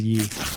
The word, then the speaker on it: Ye: It's Ye spelled Y-E.